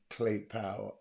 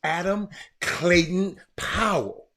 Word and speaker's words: Adam Clayton Powell: You can You can't tell me Clay Powell ain't have. His name is Clayton, Adam Clayton Powell.